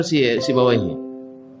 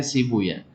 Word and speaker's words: Sibawaihi: atau Ibnu Hayy atau Sibawaihi. Ancak Sibuya lah kan? Kan Cak Sibuya lah. Jadi kalau hadis bacanya Sibuya. Rahawaihi kata orang Nahwu. Kalau orang hadis baca Rahuya.